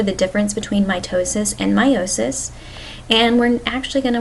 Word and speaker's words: meiosis: very similar you may also have heard people pronounce meiosis as meosis we've been guilty of that but technically if you look up the pronunciation meiosis is the correct one so we'll stick with